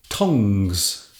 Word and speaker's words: tongs: Tongs. Now this sounds like a little tongue, but it's pronounced differently.